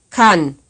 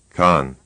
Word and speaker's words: kann: Here's another word pronounced right and then wrong. kann, Con, kann, con.